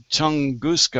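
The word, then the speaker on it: Tunguska: in um 1908 in the Tonguska, I don't know if you that's the way you pronounce that meteor that landed over in Russia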